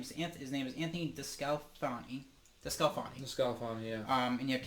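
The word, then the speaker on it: DeSclafani: His name is Anthony DeScalfani.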